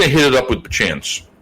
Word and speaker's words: Bachan's: Because, right, if there wasn't a BA, it would just be like Chan's. So let's call it Bachan's.